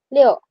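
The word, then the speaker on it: 六: Tapi kalau misalnya kalian keceposan ngomong Liu juga enggak apa-apa kayak masih bukan masalah yang besar juga gitu. Liu kalau kalian pun keosan itu gak apaapa ya. itu pengucapan yang agak bagus benarnya gitu lah Lio.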